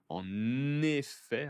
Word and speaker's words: en effet: En effet, attention à la liaison, hein, en effet, pour confirmer, pour approuver votre idée, votre argument.